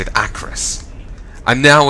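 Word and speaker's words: Acherus: And so that's how you say it, Acros.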